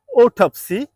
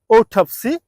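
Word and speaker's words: autopsy: can repeat the word this is নট অটোপসি ইটস ওঠপসি আই can repeat one more time it's ওঠপসি আমাদের পরবর্তী শব্দটি আমরা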